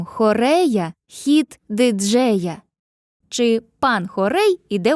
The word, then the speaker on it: хорей: Віршові розміри, в основі яких лежать двоскладові стопи - це хорей та ямб. Хорей - двоскладова стопа з наголосом на першому складі.